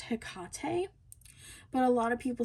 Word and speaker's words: Hecate: I believe this is pronounced Hecate, but a lot of people say Hectate.